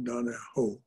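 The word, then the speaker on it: Donohue: read john o'donogho it's spelled donna hugh and pronounced in irish uh donahoe he he writes of the great uh he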